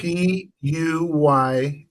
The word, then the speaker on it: Puyallup: Spell it for me. I can't see it. Puyallup.